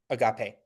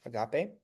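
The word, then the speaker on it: ἀγάπη: Agape. So you got it with the with the with the long e sound. Agape.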